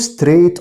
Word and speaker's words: straight: طيب كلمة go straight on. go straight on يذهب مباشرة إلى، يمشي بشكل مستقيم. خلي بالك برضو straight الجي اتش سايلنت.